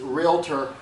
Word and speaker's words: Realtor: be a a licensed realtor or member of of some other trade group one of the reasons that Realtor and it's technically pronounced realtor everybody say realtor realtor okay Realtors hate realtor